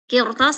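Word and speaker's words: قرطاس: Qirtos satu kalimat. Berarti bacanya tebal, tafkhim. Qirtos, qirtos. Jangan maju bibirnya, jangan qiru. Jangan maju. Qirtos. Yang penting pangkal lidah naik.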